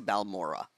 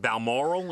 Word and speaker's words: Balmoral: doctors were concerned the family was rushing to balmora yeah is that how you say it balmoral is that moral yeah in scotland and i